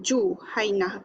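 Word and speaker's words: جهينة: Okey, bidhammil jim. Jadi cara bacaan dia Juhainah.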